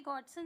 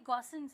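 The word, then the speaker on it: Gossen: This law is also called, ये mistake है, देखो ये यहाँ पे स्पेलिंग मिस्टेक है, ये गॉडसन नहीं है, ये गॉसेंस है।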